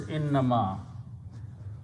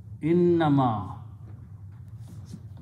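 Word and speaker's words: إنما: is one word so don't give a break between that just quickly say inama the meaning will be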